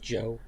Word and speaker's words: ZO: That's Yeah, that's that's pronounced Joe print. But uh Oh, okay. It's pronounced Joe. Okay. Yeah, because um because the Z is a J.